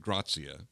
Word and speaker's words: gratia: I got a quick question because I have seen grazie spelled and you're pronouncing it grazia. Well, this is the Latin and the not, Latin, okay, and not the okay. Italian. Ah, okay.